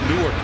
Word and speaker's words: Newark: The one in Delaware is actually Newark. That's how they pronounce it. But Newark, New York is a little village about 30 miles southeast of Rochester.